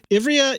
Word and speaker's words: Ivrea: Ivrea, Italy.